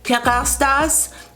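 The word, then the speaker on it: Kérastase: Yes, they are from Paris, and it's called, they pronounce it Kerastase, but for us, it's, Kerastase, I think, Kerastase Paris.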